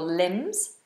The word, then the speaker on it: limbs: arms and your legs your limbs and climbs these are silent bees climbs she climbs the